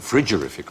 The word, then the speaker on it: frigorific: should pronounce yes cold should pronounce it frigorific probably it just means